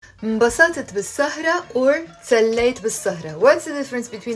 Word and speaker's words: تسليت: It sounds almost like a t sound because it's written with a t and a s together, but it's pronounced t. تسليت. It's two syllables. I'm not saying تسليت. No, it's تسليت.